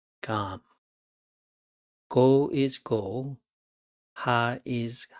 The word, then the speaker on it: 감: 감 sounds like calm with G, which makes it gam.